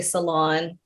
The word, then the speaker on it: salon: fancy next word cylon so again the stress is a little different we would say salon salon next brochure repeat it